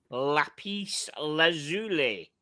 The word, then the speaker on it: lapis lazuli: A Nevada Grenchen F77 Lapis Lazuli. Lapis lazuli. Oh, is that it? Is that what That's how it's pronounced.